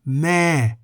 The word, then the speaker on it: แม่: In the word meh, meaning mother, for example, the vowel eh is written before the initial consonant, but the initial consonant